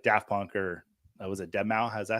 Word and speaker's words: Deadmau5: mask on, like Daft Punk or was it Deadmau5? Is that how you say it, Deadmau5?